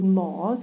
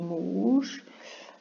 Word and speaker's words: Mós: Ora bem, Porto de Mós, aqui falta um acento, porque senão é Mous.